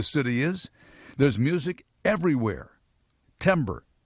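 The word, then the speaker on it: Timbre: It's called Timber, but it's spelled T I M B R E. Timber. Discover your music scene. It's about local music. It's Timber, a location-based band discovery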